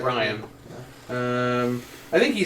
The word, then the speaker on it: Rian: R-I-A. No, you're right, Ryan.